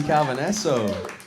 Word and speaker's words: Calvaneso: Gracie Calvaneso. Did I pronounce that right? Calvaneso? You're actually one of the few people that said my name correctly.